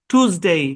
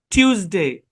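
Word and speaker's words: Tuesday: আচ্ছা বলি শুনেন, এই যে উচ্চারণটা, এটা ব্রিটিশে টিউজডে, টিউজ, টিউজ বলা হয়, টিউজ, এরকম আপনার টিউজ, টিউজডে, টিউজডে, ব্রিটিশে টুজডে বলে না, টিউজডে বলে। তো দুটার মধ্যে আপনি টিউজডে বলতে পারেন, টুজডে, দুটাই বলতে পারেন, কিন্তু আমি পার্সোনালি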